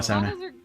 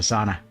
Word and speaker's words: sauna: by the fact that I'm pronouncing it sauna as opposed to sauna.